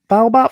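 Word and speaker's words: baobab: How I I don't want to mis mispronounce. Is it baobob baobob flowers?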